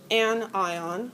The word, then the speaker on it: anion: And it's pronounced cat ion and an ion, notation and anion.